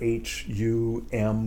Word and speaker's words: hum: So it's Hum, H, then a long U sound, Oo. And then the it's the nasalization, like in French word for good, bon, right? Bon. You see it written, it's not bone, it's not baume, it's not bong, it's bon.